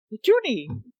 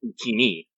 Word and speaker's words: Utini: Junie. Nope, that's not how that's pronounced. It's Utini. Yeah, there's no E's in there at all.